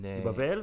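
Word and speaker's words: בבל: Bavel balal. The, okay. First of all, the name is Bavel. Bavel? In the Hebrew pronunciation, it's Bavel.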